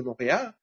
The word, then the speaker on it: Montréal: Et le roi, en vieux français, se prononce Réal. Le mont Réal, le mont du roi. Et ensemble, aujourd'hui, ça fait Montréal.